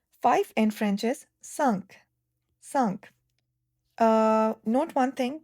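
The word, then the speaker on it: cinq: Five in French is sunk. Sunk. Uh note one thing that I and N in French are called nasal vowels and the sound uh is formed as uh uh sunk.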